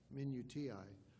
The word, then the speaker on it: minutiae: He said, he spoke of the minutiae, I looked up how to pronounce that, minutiae, of providence.